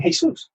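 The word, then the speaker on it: Jesús: the Spanish players have the name hey soos well hey soos is spelled the same way as Jesus so if you have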